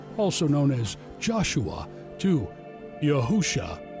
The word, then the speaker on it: Yahusha: The Savior's name in modern Hebrew is spelled Yod-He, Yuashin, Ayin, which is Yahusha, pronounced Yahusha.